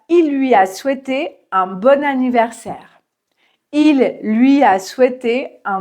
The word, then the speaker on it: bon anniversaire: Mais comme ça commence par une voyelle, on entend bon anniversaire.